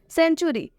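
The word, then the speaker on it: century: सेंचुरी, सेंचुरी में भी आप देख सकते हैं सी ई है तो सी ई को साथ में स पढ़ेंगे। सेंचुरी मतलब होता है शतक, यहाँ पर सी ई का उच्चारण स हुआ है, यहाँ पर ये जो सी ई है सेंचुरी में इस सी ई को साथ में हम स पढ़ेंगे, इस सी ई को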